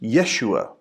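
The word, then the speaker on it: ישוע: listen to joshua remember in hebrew joshua is actually pronounced yeshua which is where we get jesus listen to jesus when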